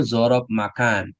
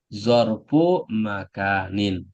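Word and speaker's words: ظرف مكان: Kalau bahasa Indonesianya zaraf makan, gitu. Tapi kalau bahasa Arabnya zarfu makanin.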